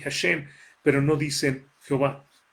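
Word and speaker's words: השם: cojo o el judía usted va a encontrar que pronuncian esto así hashém pero no dice que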